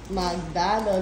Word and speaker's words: Magdalo: minan Ayan minigun m magdalo the founder of magdalo magdalo magdalo magalo Yes that's how you pronounce magdalo Look at that bowling Lane cool mayaman pala